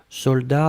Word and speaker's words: soldats: attention sec de best soldats avec un thé final on ne prononce pas le thé mais logiquement il devrait être là d'accord donc soldats s